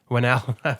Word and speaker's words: Whannell: How do you say that? Lee Whannell? Whannell. Fair enough.